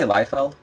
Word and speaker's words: Liefeld: How do you say his name anyway? I say Liefeld. Liefeld. That's what I always say.